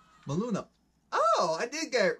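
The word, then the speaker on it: Maluma: Maluna.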